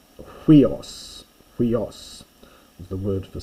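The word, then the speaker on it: υἱός: Huios, which I have mentioned before, but check the pronunciation carefully. It's huios.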